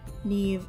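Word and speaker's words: Niamh: o'sheen and the fairy neve which i've been pronouncing wrong and just discovered that it was nev and not neem i always say neem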